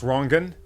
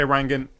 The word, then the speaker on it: Rangan: My first name is pronounced Rangan. Rangan. Like Rangan. So I'm not precious. I just tell people. But if you say Rangan, I won't be offended at all.